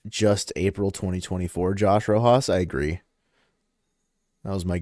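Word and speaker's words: Rojas: Slightly changed the pronunciation for my for my bit. Not Josh Rojos. It's just April 2024. Josh Rohos.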